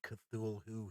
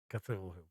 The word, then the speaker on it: Cthulhu: he has said that Lovecraft actually meant Cthulhu to be almost unpronounceable so it was not supposed to be it will be uttered by a human tongue so it's kind of supposed to be pronounced like who - who most of us kind of just a Cthulhu so here we get